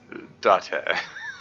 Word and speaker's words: Date: His name is actually Date, pronounced Date.